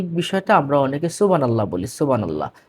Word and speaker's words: সুবহানাল্লাহ: সুবহানাল্লাহ। না সুবহানাল্লাহ নয়। সুবহানাল্লাহ। এটা হল সঠিক উচ্চারণ।